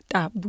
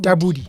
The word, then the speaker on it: Tabudi: Tabudi. Yes. Please, can you say it for me? Tabudi. Tabudi. Tabudi. Yes, it's Tswana.